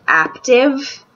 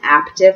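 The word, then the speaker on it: Aaptiv: is also two dollars I'm gonna pronounce it active until somebody corrects me it's spelled aap tive and basically it's um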